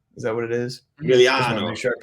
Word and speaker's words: Emiliano: I think it's Emilio Grillo. Is that what it is? Emiliano. Make sure I pronounce.